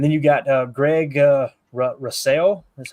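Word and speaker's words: Rousseau: weird ways and then you got Greg uh Rasel is how you say it from Buffalo defensive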